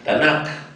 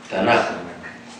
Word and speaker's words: Tanaj: y es queim verdad tanaj tanak pero se pronuncia tanaj bueno ningún hombre puede